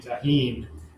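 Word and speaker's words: Tajín: Tagine should be pronounced tahin. It would be J. Tagine is an Indian oven. Tagine with a J. Yeah, tahin. Tahin. Yeah. Yes. So this would be tahin, not tagine.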